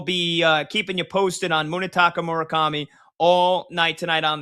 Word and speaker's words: Munetaka: Do you pronounce his first name M-U-N-E. Munetaka? Yeah, Munetaka Murakami.